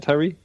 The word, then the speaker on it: Tyree: But I really did appreciate what Brian Tyree, is that how you say it, Tyree?